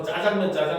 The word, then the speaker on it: 짜장면: 그러니까 원래도 자장면이라고 하는 건 중국의 작장면에서 왔거든요. 그러니까 원래 이름은 자장면이었어. 알겠죠? 근데 하도 사람들이 앞에 강세를 줘서 짜장면 하니까 현재는 짜장면으로 쓰고 읽는 것도 전부 다 표준어로 인정을 해주는 거예요.